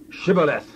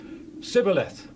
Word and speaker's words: Shibboleth: Say now, Shibboleth. Sibboleth. For he could not frame to pronounce it right.